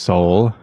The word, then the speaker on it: Sol: The official title, Sector Solar, um, also named the Soul Sector, pronounced Soul, uh, is the holiest division of imperial space with within the segmentum solar.